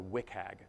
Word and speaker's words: WCAG: So there are a set of common accessibility standards called the Web Content Accessibility Guidelines, or WCAG. That's how you pronounce WCAG.